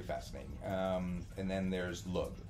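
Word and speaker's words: Lugh: um and then there's lug uh l u g l Luke um yes it's not a lug nut l l um which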